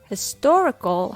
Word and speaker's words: historical: to reduce other syllables for example historical has four syllables his torah so when the stress falls on the second syllable tor all the other syllables become weak hostile historical the rhythm goes to in other words the only syllable that stands out is the tor and you can just